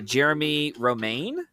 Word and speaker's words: Jeremie Romain: I'm your host and today we have uh Jeremy Roma. Uh is that am I pronouncing that correctly?